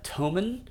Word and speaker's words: Thomann: It's spelled TH, but I think like tool Thule, the roof racks. I think because it's UK, we don't say the TH like we do in America. We say Thomann.